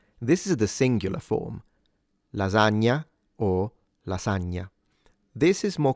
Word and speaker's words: lasagna: So according to standard rules that apply 80% of the times this should be pronounced like a z sound.